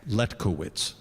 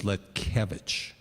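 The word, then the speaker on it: Letkiewicz: no, here in America, Okay, Letkowitz, okay? right. But the correct Polish pronunciation is Letkevich.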